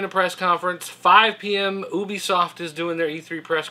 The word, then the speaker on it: Ubisoft: Ubisoft is doing their E3 press conference and at 8:00 pm Sony with the party it's pronounced u b i soft oh is that how it's pronounced it's French apparently Nintendo's going to have